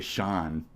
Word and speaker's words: Sean: It's purely based on how they say my I just say Shawn.